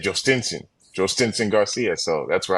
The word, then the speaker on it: Jhostynxon: training, trying to get all his teammates to pronounce his name, and he said, "Jost Stensson, Join Garcia."